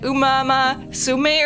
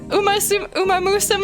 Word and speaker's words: Umamusume: she called it like Umama Sume or something. Umama Sume. Instead of Umamusume, and it was just